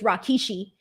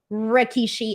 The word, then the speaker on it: Rikishi: call Rikishi Rakishi so for the longest time I thought his name was Rakishi and it wasn't until like a couple years ago that I realized it was just Rikishi and not Rakishi so anyways here we go